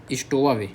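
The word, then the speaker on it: stowaway: डब्ल्यू ए डब्ल्यू ए वे हो जाएगा पीछे स्टोवावे क्या बोलो स्टोवा वे एस टी ओ डब्ल्यू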